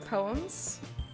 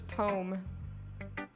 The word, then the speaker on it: poem: there's another pronunciation thing poem versus poem i definitely say poem two syllables i don't say poem